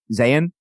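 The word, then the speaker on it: Zeihan: good right because like Peter what is it Zion saying how do you saying Zayn yeah that's kind of hard for people listening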